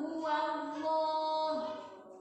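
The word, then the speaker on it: هو الله: Cara bacanya cenderung o. Qul huwallah, bukan qul huwallah, pakai o. Qul huwallah.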